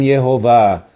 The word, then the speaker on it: Jeová: Ali Isaías, ele escreveu as seguintes palavras que Deus disse: Atem edai neum Yehová. Vós sois as minhas testemunhas, é a pronunciação de Jeová.